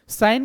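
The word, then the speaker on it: scion: साइन का इसका pronunciation विशेष ध्यान रखें, साइन, इसको सियोन वगैरह नहीं पढ़ते हैं।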